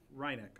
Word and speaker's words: Reineck: Is it Rennick or Reineck? Reineck, okay.